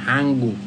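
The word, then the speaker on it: 한국: এই যে নিউনের পরে যদি গিউক হয় তখন এই নিউনের উচ্চারণ হয় ইয়ং, তাহলে এটা হবে হাঙ্গুক।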